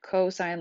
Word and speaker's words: cosine: pronounced like the word cosine like co-worker or Co with the stop sign and it's pronounced cos